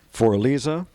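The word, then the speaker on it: Für Elise: named after my daughter for Alisa um that's the German pronunciation of for Elise and uh the uh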